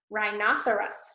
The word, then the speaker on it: rhinoceros: Rhinoceros, rhinoceros, rhinoceros. Okay, we got several of these words with the RH where that H is silent.